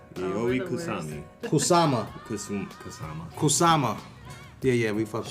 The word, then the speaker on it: Kusama: Yayoi Yayoi Kusami. Kusami. Yayoi we're the worst. Kusami. Kusama.